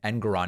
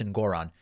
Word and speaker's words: Engoron: Good for Judge Engoron, who I guess I've been pronouncing his last name Engoron incorrectly. Apparently it's Engoron.